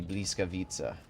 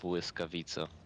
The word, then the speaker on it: Błyskawica: Alright, how do I, since you're Polish, how do you pronounce the Bliskavica? Because I know that's not correct. Błyskawica.